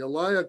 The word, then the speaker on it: alaya: this means the elia the elia consciousness the alaya consciousness is spelled a-l-a-y-a i know we've talked about this